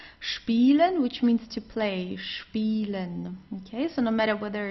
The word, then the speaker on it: spielen: a word it is, you always pronounce it as sp if it's at the beginning of the word.